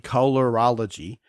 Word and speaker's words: colorology: You know, you usually leave an olo or a few syllables out thinking you spelled it right, but it is indeed colorology.